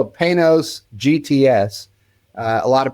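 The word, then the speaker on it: Panoz: Uh, a lot of people don't know how to pronounce it, and it's P A N O Z. And I say it's very simple. Pay through the nose. That's what how you pronounce that.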